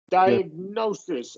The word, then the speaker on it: diagnosis: So right here it's it's going to be this is a schwah diagnosis and the primary stress is on that diagnosis.